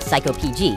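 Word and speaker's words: psycopg: To model and develop the database, I started by writing the code locally using Python and the psycho PG adapter. Yes, apparently it is pronounced psycho PG, which is exactly my level of emotional stability.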